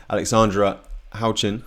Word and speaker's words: Houchin: So Sasha Dahl has kind of eked ahead of Alexandra Houchin.